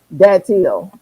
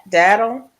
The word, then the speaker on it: datil: Dantil is pronounced Danti. Dati, is that what you're saying? Is that Dattie? Is that Dattle? Datil. What did I say? Did I say it wrong? Daddle rhymes with tattle.